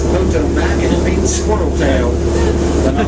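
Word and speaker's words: Potomac: for generation and generation the actual pronunciation is poto mac and squirrel tail but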